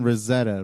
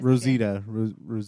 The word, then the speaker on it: Rosita: Rosetta, right? Rosita. Rosita. That's how you pronounce it.